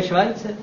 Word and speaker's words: Schweitzer: No to se vyslovuje Švajce. Co? To je Švajce právě.